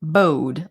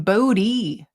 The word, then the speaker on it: Bode: i always pronounced it bowed like the word bowed like this doesn't bode well for us but then when the series started everyone was calling him body body and i hated